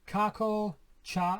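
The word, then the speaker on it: Carkol: Carco, like a cart, and coal, carco, whatever.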